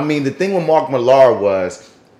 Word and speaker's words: Millar: movie like uh like Mark Miller Millar and that's how you say his name Mark Millar he's always everybody does